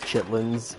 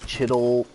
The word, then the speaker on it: chitterlings: And it's not, you know, technically pronounced chitlins. It's the actual name is like chittlings or chittling.